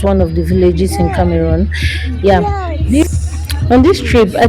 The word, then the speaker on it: Cameroon: So I traveled to Cameroon.